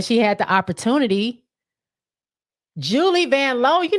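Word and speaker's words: Vanloo: Julie van L and that's how she says it that's how it's pronounced van L not van Lou Leeman oh n n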